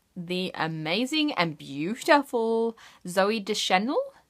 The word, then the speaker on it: Deschanel: amazing and beautiful Zoe Deschanel de Chenille so I can never pronounce names properly so apologies for that but I feel like it's Deschanel okay I hope so I'm